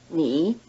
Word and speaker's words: 你: Second, the polite word is in the rising tone, nin, while the plain word is in the low tone, ni.